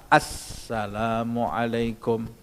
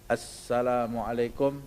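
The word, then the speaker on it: السلام عليكم: pada minimal Ucapan salam tasydidnya hanya satu yaitu di atas huruf pada kata Assalamualaikum kalau kita mengucapkan Assalamualaikum sudah selesai sah Salat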